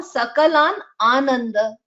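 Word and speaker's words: सकलानानन्द: It is sakalan ananda. So I can pronounce it as sakalan ananda, right? That is how it is. Okay. So it's not like sakalan ananda. It's not that. While reciting together, it is not like that.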